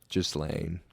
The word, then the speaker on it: Ghislaine: And Ghislaine Maxwell is... Is that how you pronounce it? I believe so. Ghislaine.